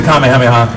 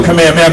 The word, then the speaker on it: Kamehameha: the Kamehameha and I I refused to go command man because I got so much Flack from kids for saying it wrong and I want to say it like it's intended in Japanese right so I'm kind of a purist I am a purist in that regard and and so the